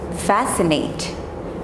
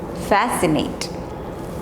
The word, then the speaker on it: fascinate: next letter is c c is generally silent when it comes with a combination of sc okay like this sc